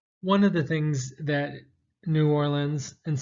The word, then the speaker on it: New Orleans: One of the things that New Orleans, and some people pronounce it Nolans, or Norlands, is best known for is jazz.